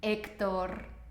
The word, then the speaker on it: Héctor: Porfa, por favor, nunca pronuncies la H. La H en español siempre es muda, no se pronuncia, no importa dónde se encuentre dentro de la frase, ¿vale?